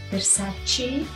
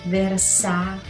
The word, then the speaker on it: Versace: fluentemente gucci prada attenti versace attenzione sento molto dire versarci rosa c no si dice versate sì abbiamo fuori altre